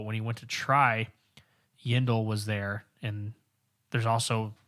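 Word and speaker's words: Yindel: yen yeah indole i i keep wanting to say yedlin like deandre yedlin the defensive player for the u.s men's soccer team yendal rhymes with kindle um anyway there's a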